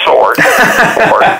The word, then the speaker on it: sword: well first comment is the W is silent unless you're in Texas it's a sword okay in Florida okay